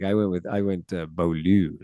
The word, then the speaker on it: Beaulieu: I went with I went belu like I just emphasized the L.